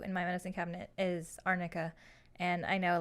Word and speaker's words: arnica: But it was weird because like the attorney pronounced it wrong instead of saying Arnica. I think she was saying Armica or something weird.